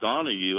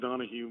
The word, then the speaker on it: Donahoe: I think it's pronounced Donahue, but Donahue.